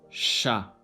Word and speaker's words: chat: CH is pronounced as Ch, as in English word ship. chat, H.